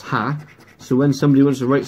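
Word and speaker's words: ห้า: silly fact for you the number five in Thailand is pronounced ha so somebody wants to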